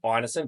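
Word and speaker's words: Ineson: So it's inerson, but you can understand how people might accidentally pronounce it innocent.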